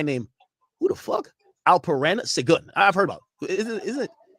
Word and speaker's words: Sengun: They say Sengun.